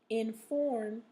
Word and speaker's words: inform: So your words are formal, gorgeous, normal, order, distort, import, inform, and resort. So those last four words have the stress in the second syllable, okay?